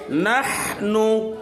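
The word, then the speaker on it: نحن: নাহনু, গলার মধ্যে চাপ দিয়া কঠিন উচ্চারণ।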